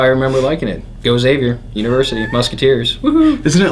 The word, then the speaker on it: Xavier: and I was there it says it's Xavier and then they spelled it out phonetically with a z not eggs EG GS savior anyway mind the gap